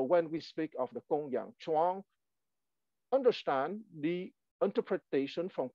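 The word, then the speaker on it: Gongyang: alphabet translate transliteration is pronounced like a k like in kangaroo so it's Kung Yang chuang z h u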